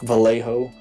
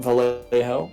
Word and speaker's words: Vallejo: of them which like vallejo pronounced not valerejo it's pronounced some other way but um for a